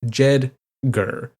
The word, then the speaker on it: JEDGAR: jeder a sixlet ISM pronounced as two syllables jeder in honor of the